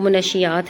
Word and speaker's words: منشیات: دیکھیں اس کو نا اکثر لوگ منشیات پڑھتے ہیں، منشیات منشیات یہ جیسے بھی ہے، بہرحال اس کا جو تلفظ ہے نا وہ منشیات ہے، ایک معاشرتی روگ، نشے